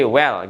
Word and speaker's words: well: Tapi kalau misalnya bermain di lidahnya, well well. Habis dilepasin, ditarik lagi ke atas dia. Well, well, well. Jadi bunyi L-nya itu bunyi L-nya itu berasa kan?